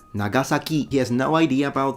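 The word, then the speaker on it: 長崎: The Japanese say Nagasaki, Nagasaki, so both sa and ki are definitely low.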